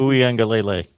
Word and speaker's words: Uiagalelei: Just pronounce the name. It's just Uiagalelei.